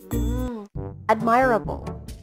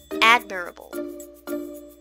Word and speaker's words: admirable: pronounced as adverb again admirable alright well done so the stress should be on the first syllable there now let's try to